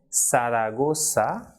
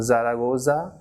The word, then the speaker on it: Zaragoza: be soft unlike English for example the person is not Zuma but it is sumo so like in English we say sir that is of the alphabet s so the same pronunciation of the same sound will be produced in Spanish for this alphabet that is Satan so the person is sumo Siragusa and cerveza she should not be Zumo Zaragoza Oh cerveza but sumo